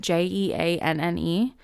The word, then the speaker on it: Jeanne: I just want to say, I believe this woman spells her name Jeanne, but she pronounces it Jean.